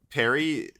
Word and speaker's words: Perry: They said Perry rhymes with Mary, so we'll make that